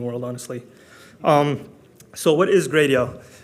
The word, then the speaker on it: Gradio: A little intro about me is I am one of the 4 co-founders of Gradio. It's pronounced Gradio, by the way. I know some people say Gradio.